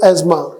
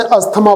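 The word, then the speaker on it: asthma: ऑफ the cause of एज्मा। भाई आप इसे अस्थमा बोलते हैं, हिंदी में तो अस्थमा ही बोलते हैं। हिंदी में इसकी जो राइट प्रोनाउंसिएशन होती है वो एज्मा होती है, अस्थमा नहीं होती।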